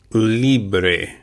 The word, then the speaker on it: libre: The L-I is pronounced as if in English as if it were L-E-E. Li. Li. Then B-R-E, bre, would be pronounced similar to the commencement of the work break. Bre, bre, libre. That would be the Anglican pronunciation. The B, we pronounce it just a little bit softer in Spanish, so it'd be libre, bre.